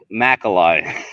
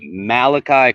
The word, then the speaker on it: Malachi: Didn't you call him Macaroni, right? Macalai. Oh, yeah, Macalai. You called him like Macalai. His name's all right, Malachi Corley, my man.